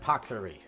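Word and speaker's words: paccheri: thick pasta right here it's pronounced packery yeah and I never say it right I get a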